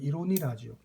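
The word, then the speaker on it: Ironie: 그래서 이 유머러스한 어떤 내용을 항상 작품 속에 포함을 시켰고 또 아이러니, 이제 독일어로는 이로니라죠. 독일어로 발음하면 이로니, 우리 보통 반어, 그죠?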